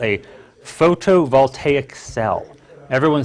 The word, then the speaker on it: photovoltaic: that to photo voltaic it's a big word I'll spell it out for you - its pH OTO like photo voltaic is vol ta IC